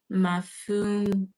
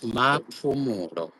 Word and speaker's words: Mapumulo: Tandega's surname is Mafumulu. Mafumulo is someone says his surname is It's Mapumulo. Mafumulo. So no, that P you actually pronounce it as a P. Okay. You don't F it.